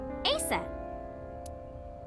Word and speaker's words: Aset: is named Isis but in ancient Egyptian it's pronounced closer to ISA or aset H how do I explain this horus's